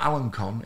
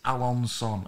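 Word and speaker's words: Alençon: and now this bit alan's son is it alonsom is it it's not alan khan i think it's alonson i think that's how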